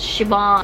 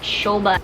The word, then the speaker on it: Siobhan: an Irish name but it's really pronounced as Shi ma not Shobha it's seldom pronounced as Shobha but it's most likely being pronounced as she wants though I'm using